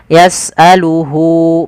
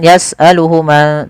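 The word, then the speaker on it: يسأله: orang ketiga yaitu dia yasaluhu panjangnya berapa harakat untuk Mad Silah qasirah yaitu dua harakat maka Hunya di sini panjangkan jangan yasaluhuma tapi panjangkan dulu di sini ada tandai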